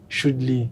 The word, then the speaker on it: Shudlee: Tout le monde connaît son nom Choudli sur internet là. Pas Jean l'écrit comme si j'aime prononcer là mais avec deux E.